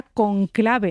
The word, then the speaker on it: cónclave: Fíjate que la propia palabra cónclave, volviendo ahora al Papa, e en su étimo, en su origen, era llana, era conclave, porque es cerrados con llave, con Exactamente.